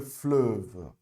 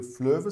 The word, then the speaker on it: fleuve: Ó, você faz a boquinha do O e pronuncia o E, ok? E. Então, le fleuve, tá certo? Le fleuve s'appelle la Seine, tá ok?